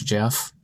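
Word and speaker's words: Geoff: get it jeff emrick how do you spell it g-e-o-f british jeff e-m-e-r-i-c-k i believe yeah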